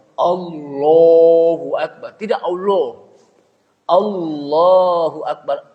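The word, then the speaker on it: الله أكبر: Allahu Akbar. Bar. Jadi jangan sampai apa? Ada lagi bacanya. Allahu Akbar. Tidak Allah. Allahu Akbar. A-nya juga lafaz Allah, namanya lafzul jalalah, itu dibaca tebal. Tafkhim.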